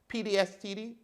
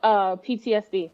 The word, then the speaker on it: PTSD: How do you say it again? PDSTD or something like that? Oh, PTSD. Thank you.